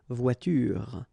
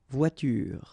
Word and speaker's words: voiture: The last thing that you will hear is this r, voiture, voiture.